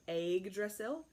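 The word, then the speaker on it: Yggdrasil: s IL and that's it's like egg like the way of southerner might say an egg so egg drizzle and that is from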